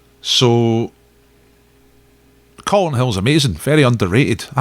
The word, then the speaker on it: Calton: I went up Calton Hill, and I always want to say Calton Hill because I lived in Glasgow and you say Calton. But I said Calton once in the pub and everybody said, no, it's Calton.